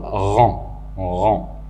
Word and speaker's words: rang: La même chose pour rang, il se termine par G, mais pendant la prononciation, le mot n'est pas entendu.